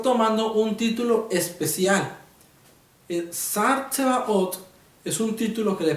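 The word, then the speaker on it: שר צבאות: la siguiente expresión, que en el hebreo se pronuncia así: Ani Shar Tsebaot de Yahweh Elohim. Soy el príncipe de los ejércitos de la causa del Señor o del Señor. Está tomando un título especial. El Sar Tsebaot es un título que le pertenece solamente a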